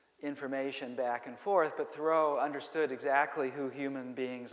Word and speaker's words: Thoreau: in the world because i come from massachusetts and thoreau is pronounced thorough there so my my tongue